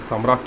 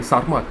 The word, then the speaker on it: Sarmat: so this is about the samrat sorry sarmat sorry i mispronounced it just uh just make it make a correction it is not somewhere yeah some sort so this is about sir mart and now let's uh